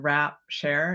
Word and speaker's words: Wrapshare: is okay so and the word is a little tricky because it sounds different than it's spelled so Global as in the planet and then rap share it's w-r-a-p as in gift wrap and then s-h-a-r-e as in sharing and this is a